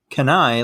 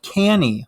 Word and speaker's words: Cannae: Now, side note for the listeners, I've heard the battle pronounced two different ways. Many historians say that you're totally all right with pronouncing it either the Battle of Cannae, like we're going to use it today, or you could also call it the Battle of Cannae, which sounds cool too.